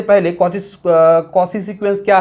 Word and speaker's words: Cauchy: but mathematician कॉशी ने एक principal जिसको बोलते हैं कॉशी जनरल